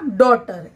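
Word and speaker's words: daughter: तो डॉटर में जी एच से हमें जी एच का साउंड ग हमारे पास कहाँ आ रहा है? नहीं आ रहा, तो यहाँ पे जी एच का जो साउंड है वो मिसिंग है। तो ये हमारे साइलेंट वर्ड हो जाएंगे कौन से? जी एच के। तो ये हमारा बना डॉटर।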